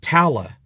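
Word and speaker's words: Talla: we finally met who we've been calling Tala but they weren't pronouncing her name Tala they're pronouncing it Tala Tala kigali played by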